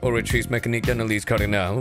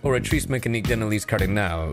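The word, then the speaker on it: Oratrice Mécanique d'Analyse Cardinale: you yourself have an orri mechan cardal where you are stationed what is an or mea orri mechan Denalis Cardinal what uh it's pronounced orrice mechan Denalis cardinal and what is that it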